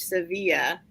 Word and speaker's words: Sevilla: pronounce that stuff civilian well if it's Spanish Sevilla Sevilla so I do